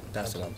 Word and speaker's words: Salaam: Did I pronounce that right? Yeah. Salaam.